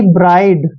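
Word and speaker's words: bride: अभी देखिए बी का उच्चारण बै करते हैं, आर को रे लिखते हैं और IDE को आइड पढ़ते हैं, यानी कि ब्राइड।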